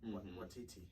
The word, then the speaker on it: Waititi: I always feel like I butchered it. I think it's Taika Waititi, right? Waititi.